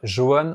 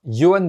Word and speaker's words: Johann: Et je pense que la première chose à savoir, c'est que ça s'écrit avec un J mais ça se dit pas Johann, ça se dit bien Johann Beringer.